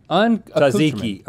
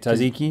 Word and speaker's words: tzatziki: I like some Tzatziki. Is that how you say it? Tzatziki?